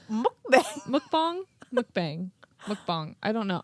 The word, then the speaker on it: mukbang: we could have a group mukbang. Mukbang. Mukbang. Mukbang. I don't know. I know it's spelled bang, but I think it's pronounced bong.